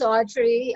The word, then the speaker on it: Audrye: too so thank you my name is audrey i spell it a-u-d-r-y-e that's not oh that's the way i spell it so if you see it you see audrey now a-u-d-r-y-e-n-o-w it's usually